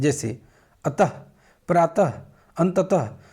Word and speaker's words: अतः: का होता है, लेकिन उच्चारण क्या कहते हैं इसका? ह का करते हैं। जैसे अतः, प्रातः, अंततः, ये सब क्या हैं?